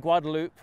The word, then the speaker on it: Guadalupe: If all the parking in the new 6th and Guadalupe, and yes, that's how they pronounce it in Austin, skyscraper in downtown Austin